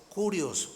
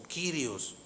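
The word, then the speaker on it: κύριος: La palabra griega que se usaba en ese tiempo para Señor es Kurios o Kyrios, algunos la pronuncian así.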